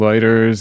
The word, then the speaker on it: eider: Spectacled eider?